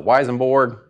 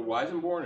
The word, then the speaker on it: Weissenborn: to bring that uh is it the weisenborg how do you say that the weissenborn and the resonator oh